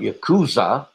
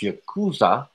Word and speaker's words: Yakuza: crying man he's like he's like I thought you kusa yeah that's pronounced Yakuza but there is a place in Japan called